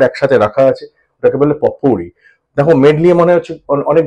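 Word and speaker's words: potpourri: এবং আজকে শেষ ওয়ার্ড পটপুরি দেখো খেয়াল করে দেখো স্পেলিংটা পি ও টি পট পি ও ইউ আর আই পটপুরি কিন্তু পটপরি বলবে না প্রোনাউন্সিয়েশনটা হচ্ছে পপুরি ওকে পপুরি মানে হচ্ছে মেডলি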